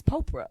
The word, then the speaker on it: Popra: Just like Oprah, but with a P. It's Popra.